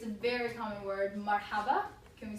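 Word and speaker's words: مرحبا: Marhaba. Can we say that? Marhaba. Marhaba. Very good. Okay. So marhaba is spelled like this.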